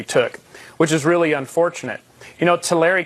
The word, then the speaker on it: Tulare: Tulare County is how it's pronounced, actually, but Tulare County, that's fine.